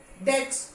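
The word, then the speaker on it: debt: यहां पे नहीं, subtle, subtle, डेट, B pronounce नहीं होगा, डेट. डाउट, डाउट नहीं, डेप्ट नहीं होता है, डेप्ट नहीं होता है, डेट, डेट, बी इज not pronounce.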